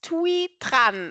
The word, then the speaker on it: Thuy Tran: My next lady is Thuy Tran. I hope I pronounce this correctly.